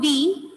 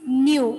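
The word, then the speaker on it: ν: That is nu. It is not v, it is nu. It's a Greek symbol pronunciated as nu.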